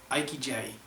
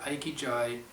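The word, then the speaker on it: ikigai: so the tenth thing it says follow your iqj I don't know if I'm saying that right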